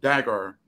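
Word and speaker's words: Dagher: The reporter's name is Sam, because I also mentioned this in my book, Dagger, and people can look up his articles. His last name is spelled D-A-G-H-E-R.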